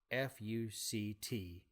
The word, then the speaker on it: FUCT: down a decision on fu C T which is how Kagan says it's actually pronounced because there are dashes between it even though it has